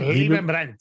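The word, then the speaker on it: Leibbrandt: It's from the former Swift CEO, Gottfried Liebenbrandt. If I said it right? Liebenbrandt, yeah.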